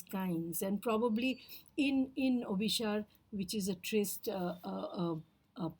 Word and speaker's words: Abhisara: setting where I am in the setting of obish The trist yeah it is spelled a b h a s a r